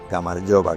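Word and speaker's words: გამარჯობა: Y luego Gamaryova, que no sé si lo he dicho antes, pero el saludo típico es el hola.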